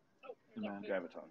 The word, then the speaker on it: Graviton: Graviton.